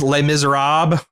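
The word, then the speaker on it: Les Misérables: Apparently it's Les Miserables. You don't do the last Les. I've been saying it wrong all these years.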